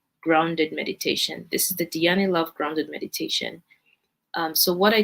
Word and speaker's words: Dhyani: Let me see if I could say it right. let's see, yes. Her Instagram is Dhyani Love. That's DHYANI Love. DHYANILOVE. Dhyani Love.